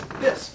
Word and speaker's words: Biss: My last name is Biss, B-I-S-S, and the second S is silent.